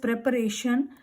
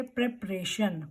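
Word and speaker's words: preparation: Next one that is प्रेपरेशन. प्रेपरेशन बोला जाता है जो हम एग्जाम की प्रेपरेशन करते हैं किसी भी प्रोजेक्ट के लिए. सो we will say प्रेपरेशन. प्रेपरेशन, नॉट प्रिपरेशन.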